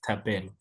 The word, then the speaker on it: Thapelo: Now people on say b because of the e in in the middle you know like me my name is tabello.